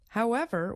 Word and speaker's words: however: way of saying how when we use it this way we stress the second part of the word ever for example however will I choose there